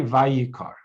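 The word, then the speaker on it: ויקר: Vayikra has an aleph at the end. Vayikar does not have an aleph. We would pronounce this differently, Vayikar. It's without the aleph.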